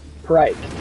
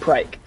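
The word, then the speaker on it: Phrike: So, let's go and let's try to defeat Prike, I think you say it? Prike. That's how you say it. It's Prike.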